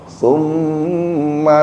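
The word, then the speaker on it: ثم: sin bukan summa tapi tsumma bukan summa kalau summa nanti bacanya pakai sin bukan summa tapi pakai tsa ujung lidahnya digigit sedikit huruf tsa bukan huruf Sin tumma tsumma la yamutu tsumma la yamutu fiha wala yahya.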